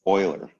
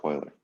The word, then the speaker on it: Euler: one version of a limit no it's it's Euler okay yes it's pronounced like Euler okay so what else did I miss any